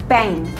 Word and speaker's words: bank: Bang tulisannya sama sebenarnya Tapi kalo dalam bahasa Inggris bacanya adalah bank sistem Jangan sampai keliru sahabat-sahabat ganacci misal mau bilang aku mau ke Bang kek ya jangan bilang Iwan sugot Subang mereka nggak tahu Bang itu apa memang tulisannya sama tapi cara bacanya berbeda so be careful I